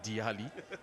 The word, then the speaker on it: Daily: Diali. His name is spelled as Daily, but the correct pronunciation is Diali Ichaba.